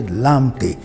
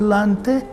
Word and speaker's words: Lante: We say Lamte. There's no Lamte in Ghana, it's Lante.